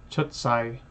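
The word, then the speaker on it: 出世: Chutsai. Chutsai. Is it a long A or a short A for world? I guess that's Sai. Sai, so it is short. It's not Sai, it's Sai, Chutsai.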